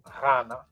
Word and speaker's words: Ghana: who was known as Ghana. So it's not a G sound either. People in the country called Ghana, they actually can't even pronounce it right. But the GH is a R sound.